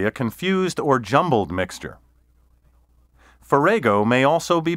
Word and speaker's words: farrago: a mixture especially a confused or jumbled mixture forrego may also be pronounced ferrago synonyms of ferrego include conglomeration medley mishmash hodgepodge